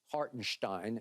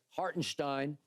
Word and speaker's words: Hartenstein: and to your point hartenstein is how it's supposed to be pronounced okay hartenstein they're not goingon to